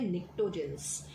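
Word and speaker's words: pnictogens: और इस ग्रुप के जो एलिमेंट्स हैं उनके लिए हम एक और वर्ड यूज़ करते हैं निक्टोजेंस। स्पेलिंग पी से स्टार्ट होती है, पी साइलेंट है, निक्टोजेंस।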